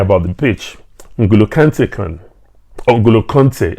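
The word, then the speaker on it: N'Golo Kanté: the nguolo can taken angola conte as some people say that's correct pronunciation now so basically what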